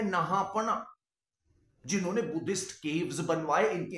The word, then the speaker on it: नहपान: इनका नाम नहापना, मैं गलत बोल रहा हूं, अंग्रेजी की वजह से ये आदत हो गई है। इनका सही नाम का जो प्रोनाउंसिएशन है वो होगा नहपान, नहपान, माफी चाहूंगा।